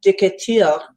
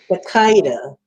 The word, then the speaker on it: Decatur: Yeah, it's spelled French, but it's pronounced differently than the French Decatur.